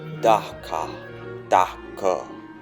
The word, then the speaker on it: Dhaka: city of dhaka bangladesh dhaka is pronounced dakka dakka or daca its name was romanized